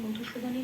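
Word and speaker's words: মধুসূদন: যখন হসন্ত থাকবে না তখন যেমন মধুসুদানের নটা পূর্ণ নরূপে ন বলে উচ্চারণ করতে হবে।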